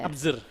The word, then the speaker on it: ABZR: tuh bacanya gimana ABZR? Abzur. Observe gitu ya.